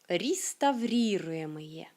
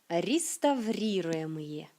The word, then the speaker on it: реставрируемые: C'est toujours intéressant, surtout avec les apprenants francophones, à cause de ces 3 R. Реставрируемые. Реставрируемые. Реставрируемые. Et non seulement ces 3 R qui sont difficiles à prononcer, mais à la fin, c'est aussi pas si facile que ça.